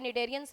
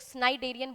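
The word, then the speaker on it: cnidarian: पूछा है तो ये निडेरियंस में ही पाया जाता है, ठीक है, यहाँ पे सी साइलेंट होता है, कई लोग स्नाइडेरियन बोलते हैं बट स्नाइडेरियन और स्नाइडोसाइट इज not correct pronunciation, it is cnidocyte.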